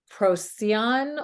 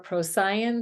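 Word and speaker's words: Procyon: featuring the stars of proceon or procyan different ways of pronouncing it Beetlejuice and Sirius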